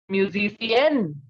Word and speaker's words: musicienne: And a female musician in French is musicienne. You can clearly make it out that the sound of N is coming in the second.